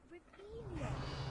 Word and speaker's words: Revelio: Ugh, Revelia.